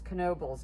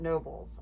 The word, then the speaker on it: Knoebels: always knoebel's grove and the k is pronounced so it's knobles not nobles i i don't know